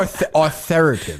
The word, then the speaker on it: authoritative: How would you spell authoritative? Is that an O-R? I would. I think still A-U. A-U-T-H-A-R. I-T-I-V, yeah. So it's not that far off. No. Right. Authoritative. There's two syllables missing.